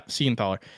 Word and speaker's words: Siegenthaler: I think it's how you pronounce his last name. Siegenthaler? Yeah, Siegenthaler.